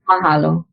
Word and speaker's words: Mahalo: Hawaiian is very phonetic. So if you know other languages like Tagalog or German or Spanish, you pronounce every letter, and you're using the sounds of the vowels that are more of the soft sounds of the vowels. A, E, I, O, U.